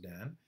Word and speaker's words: DAN: It's pronounced DAN, and it stands for Dynamic Acquisition Equilibrium Network.